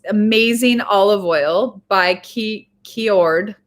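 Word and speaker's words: Kyoord: olive oil by ke keord i think it's keord oh cured very cured that's how you say it it's right here i'm sorry you guys so it's cured but with a k-y-o-o-r-d so it's an amazing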